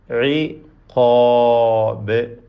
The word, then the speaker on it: عقاب: فحق عقاب عقاب ഖാഫിനും അലിഫിനും തഫ്ഖീമാണ്, തടിപ്പിച്ച് പറയണം.